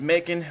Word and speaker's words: Macon: with the school boy his name is macon rhymes with bacon and he's coming out